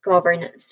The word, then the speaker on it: governance: Next, on the second syllable, the first syllable is gov. It is pronounced as gov with a short oo sound. This part receives a secondary stress. The fifth syllable it is pronounced with a schwa sound still and then a letter R sound. And the final syllable nance, it is pronounced with a schwa sound still and then followed by letters N and S sounds.